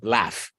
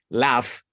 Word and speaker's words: laugh: lo conocen, que es laugh. Los que lo conocen, es un poco irregular en la pronunciación. Laugh, suena como L-A-F, pero se escribe L-A-U-G-H.